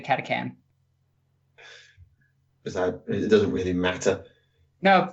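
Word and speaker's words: Catachan: on catechin oh yeah I should probably say it right katha chan it's actually katha can it doesn't really matter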